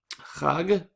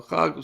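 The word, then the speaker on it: חג: But Chag is the Hebrew pronunciation in Hebrew.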